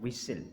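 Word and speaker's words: whistle: टी इज़ not pronounced in these common words. इनमें हम जो है वो लफ्ज़ों में हम टी को प्रोनाउंस नहीं करते। मसलन फैशन, लिसन, ऑफन, थिसिल और विसिल, यहाँ पर भी हमने टी को प्रोनाउंस नहीं किया।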